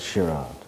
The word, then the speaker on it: Gerard: Gerard's first name is shirad you see we've just been coaching me on which is the proper Dutch pronunciation and there's an interesting